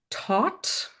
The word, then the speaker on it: taught: When you pronounce taught with the tongue touching the teeth, like it does in most languages, taught, Mm, taught, that sounds to us more like thought, got it.